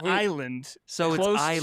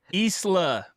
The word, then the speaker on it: Isla Nublar: Isa Nublar. Hey Siri, I don't have you on. It's pronounced like the word isle.